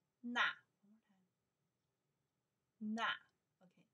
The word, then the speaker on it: 那: Na, we pronounce na in English is that.